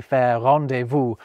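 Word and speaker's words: rendezvous: And we can casually discard zed with a lassair rendevu sheir.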